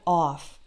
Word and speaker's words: of: off so we have of and off and there's also a difference in the consonant so in the word of spelled with only one F the F is actually pronounce like V uh don't pronounce it